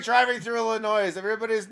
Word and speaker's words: Illinois: Because it's pronounced Illinois, not Illinois.